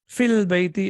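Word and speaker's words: في البيت: in the house okay look at the pronunciation when you recite it or when you read it alone it is fee but when you connected with Al then yeah is not pronounced it becomes filled philbathi as you can see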